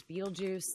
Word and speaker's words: Betelgeuse: One of the stars that we're thinking could go supernova is Betelgeuse, which is in Orion. A lot of people might know it as Betelgeuse. There's a bunch of different ways you can pronounce that.